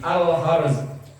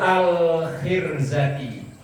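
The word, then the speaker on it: الخرزة: Wa min jumlati ma fil mirarati dan termasuk bagian dari miroroh itu tadi al-harz itu al-khirzati salah bacanya wa min jumlati ma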